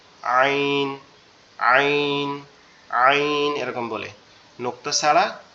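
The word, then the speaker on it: عين: এটা একটু গলাটা চাপা আওয়াজ হবে, ঠিক আছে, গলাটা একটু চেপে মানে একটু শক্ত করে বলতে হবে আইন, আইন, আইন এরকম বলে।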